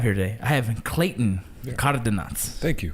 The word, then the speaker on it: Cardenas: I have Clayton Cardenas. Thank you. Did I pronounce that correct? You did. I mean, it can be pronounced different ways. Cardenas. That works.